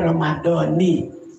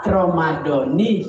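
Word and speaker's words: رَمَضَانِ: hai halo belajar ngamuk bacanya Romadhoni kalau ngikutin keumuman Romadhona tapi dua-duanya sah Romadhona sah Romadhoni juga sah-sah kalau ada orang niat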